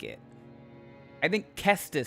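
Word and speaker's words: Caestus: Is it the Cestus or the Cestus? I think Kestus because the hard consonant of the C fits better for punching I think.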